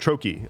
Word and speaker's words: trochee: Siliconsole says, personal theory, Blue Sky will be more popular than Mastodon because Blue Sky is a trochi? Trochi? What is this word? Oh, type of word. Trochee.